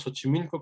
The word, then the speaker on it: Xochimilco: Aquí, aunque en español decimos Xochimilco, como ya nos recordaba Sofía la clase pasada, no es Xochimilco, es xochitl, ¿no?